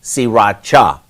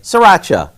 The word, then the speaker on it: Sriracha: cooking is now everywhere it's actually pronounced siracha but most of us just say Sriracha so here are the